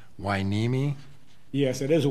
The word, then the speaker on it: Hueneme: And just for the record, is it pronounced Hueneme? Yes, it is a Hueneme.